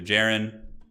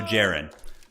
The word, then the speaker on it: Jaron: playing um also turn Jaron rhymes with Aaron so Jaren okay got it so